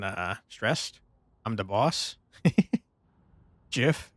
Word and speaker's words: GIF: stressed I'm the boss gif as in Jiffy except everyone knows that's pronounced GIF how dare you you